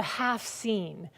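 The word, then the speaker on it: haft-sin: their home called a half scene and that's half h-a-f-t persian word and scene it's s-i-m but pronounced scene and that's the scene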